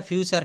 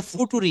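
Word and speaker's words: future: কেন লিখলাম এটা হচ্ছে ফুটুরি আমরা এফ ইউ টি ইউ আরই কিন্তু এটা বলতে হবে ফিউচার এটা হ্যা এটা ফুটুরি আচ্ছা না এটা হবে ফিউচার যাই হোক এটা আমারও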